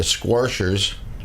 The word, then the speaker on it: Squarshers: Then later tonight, you've got the Hillbilly Heat Wave featuring the Squarshers. And I didn't pronounce Squashers wrong. That's how it's written.